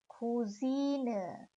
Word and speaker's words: Cousine: Female cousin is cousine. Plural of cousin is that you add an S, cousins, and plural of cousine is that you add an N at the end, cousinen.